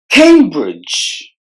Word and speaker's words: Cambridge: the Lich privilege Cambridge Cambridge there are two syllables in this word and we have to stress the first syllable Cambridge largest largest largest the